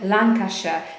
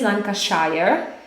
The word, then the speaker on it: Lancashire: Zobaczcie, tutaj na slajdzie mamy Lancashire. To nie jest Lancashire, tak jak na przykład we Władcy Pierścieni, tak? Mówią Shire. Natomiast w brytyjskim angielskim tak się tego nie wymawia. Mówimy Lancashire. Nie Lancashire. Pendle Hill in Lancashire.